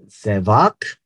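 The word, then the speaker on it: זבח: that you understand sevak the last two letters are the same with the same sound the first letter is the only one that is a variable song one is pronounced as which is sacrifice the second is pronounced as tevac which is Slaughter as you know Hebrew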